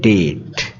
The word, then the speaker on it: debt: এটার উচ্চারণ হবে ডেট, মানে এখানে বিটা সাইলেন্ট থাকবে।